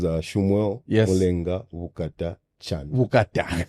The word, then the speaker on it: Shummuel: Okay, so Samuel, but Shummuel. Shummuel. Yes. Perfect. Shummuel.